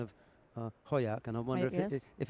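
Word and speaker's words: Hojak: appearance this morning We got the final decision Hoyak right At which Gwendis through to the quarterfinal We mentioned her this morning I just saw that Is that Hermanson i'm just thinking about the pronunciation of Hoyak And I wonder if if it's going to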